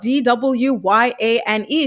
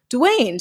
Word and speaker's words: Dwyane: wade the basketball player his name is spelled d-w-y-a-n-e so it should be what dwyane or whatever but it's pronounced dwayne so i think that's